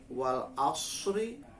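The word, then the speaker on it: والعصر: Contoh misalkan wal asri. Wal asri kalau berhenti menjadi wal asr. Asr. Innal insana lafi khusr.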